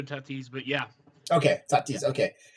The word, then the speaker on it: Tatis: diego padres shortstop uh fernando tati junior is that am i pronouncing that right yep yeah actually uh yeah fernando tatis but yeah okay okay